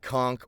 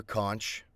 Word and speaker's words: conch: Did you know that you can pronounce it conch or conch? I did a video once about Spotify Unwrapped or whatever, and I pronounced it both ways because I thought I was pronouncing it as conch would be wrong and funny in the video, but it's actually correct. Both are correct.